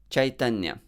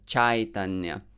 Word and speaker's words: Chaitanya: It's not chai. We're not drinking chai. And also, it is not pronounced as Chaitanya. It's not A. So there are two ways in which you can pronounce it improperly. Either Chaitanya or Chaitanya. So let's stay in the middle. Chai, I. The sound is actually a single vowel in Sanskrit, but it is a diphthong,